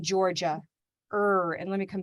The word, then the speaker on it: Georgia: color we use because there are many right ways to say this word okay we're flexible people we're humans is that there is an er in georgia er and let me